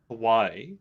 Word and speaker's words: Hawaii: am a believer that we need to pronounce it the correct way and give the you know the respect towards that and so with that that's why i always pronounce it hawaii yeah and i'm a